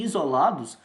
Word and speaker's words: isolados: um x mas já aqui em isolados nós temos um som de z representado pelo s então esse é o